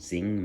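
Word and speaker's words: Xing: And by the way, Zing is spelled with an X, and then Mao was like M-A-O, I think.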